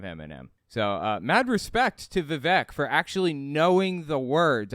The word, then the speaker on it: Vivek: And he talked about the fact that Vivek Ramaswamy, I'm sorry, his name's pronounced Vivek.